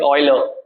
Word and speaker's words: Euler: Like Euler, but the actual pronunciation is Euler. Euler. Yeah. So people do call it. I mean, Euler is the right name.